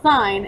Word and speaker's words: sin: as s i n but it's still pronounced like sign and we abbreviate the